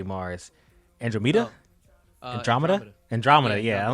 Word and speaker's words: Andromeda: Andromeda, yeah. I'm like, I know the word, but it just the pronunciation wasn't coming.